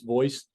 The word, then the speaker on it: VOISS: Voice is VOISS. Yes, phonetically VOS, but voice.